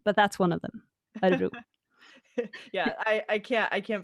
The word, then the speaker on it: Örebro: Yeah, so it's pronounced Örebro in Swedish.